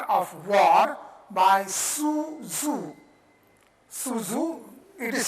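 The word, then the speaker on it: Sun Tzu: Su Zhu, it is spelled S-U-N, Su, T-Z-U, Zhu.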